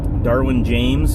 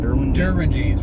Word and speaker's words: Derwin James: Darwin James. Is that how you say it? Derwin James, really good safety for the Chargers.